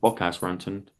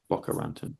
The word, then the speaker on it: Boca Raton: Okay, not Bocas Raton, Boca Raton.